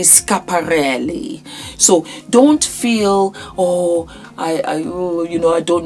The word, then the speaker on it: Schiaparelli: I used to say Schiaparelli. That's what I thought it was. But it's actually Schiaparelli.